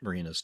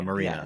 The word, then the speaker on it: Myrina: It's MYR. Not a marina. Yes. It sounds like a boat dock or a yacht slip, but it's actually spelled different.